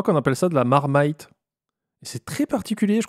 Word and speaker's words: Marmite: suis prête pas alors ça s'écrit marmite mais on dit marmite n'importe quoi alors on